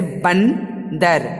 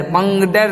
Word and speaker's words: बंदर: जैसे बंदर, बंदर, बंगडर नहीं बोलते हैं, क्या बोलते हैं? बंदर, तो उसमें ना होती है।